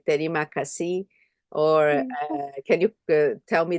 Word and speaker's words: terima kasih: I say terima kasih, or can you tell me the No, pronunciation? terima kasih.